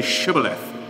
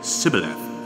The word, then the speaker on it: Shibboleth: They said to him, "Then say Shibboleth," and he said Sibboleth, for he could not pronounce it right.